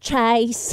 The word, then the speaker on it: Chyce: Kimmy, That's because you pronounce it Chase.